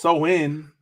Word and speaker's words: Samhain: So Samhain, a Gaelic word pronounced Samhain, is a pagan religious festival originating from an ancient Celtic spiritual tradition.